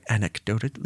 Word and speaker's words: anecdotally: Anecdotally, or if I said it right, anecdotally, yeah, I said the C.